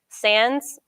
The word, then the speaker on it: sans: Sans, anybody studying French? Any French? Okay, so yeah, you don't pronounce the S, but in English we do.